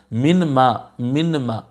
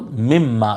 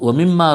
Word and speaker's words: مِمَّا: ہو رہا ہے تو یہ نون جو ہے مدغم ہو گیا ہے دوسرے میم کے اندر، تو یہ من ما جا کے تلفظ میں دیکھیں آپ کتنا مشکل ہو رہا، من ما تو مم ما، یہ ادغام ہو گیا، اندر کیا کہتے ہیں